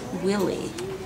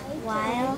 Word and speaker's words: while: That silent E makes the I say I. So try sounding out with an I sound. While Very good.